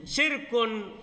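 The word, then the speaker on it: شِرْك: Nah itu syarikun sudah salah bacanya. Saya tadi baca syirkun.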